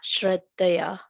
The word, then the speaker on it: Shraddhaya: So that is palatal shaya, sha, Shraddhaya.